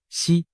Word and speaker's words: 石: 胡锦涛，实在某些方言里读作西。